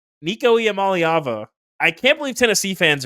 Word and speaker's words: Iamaleava: I believe Nico is Yamaleva. It is Iamaleava. I counted. There's 6 syllables.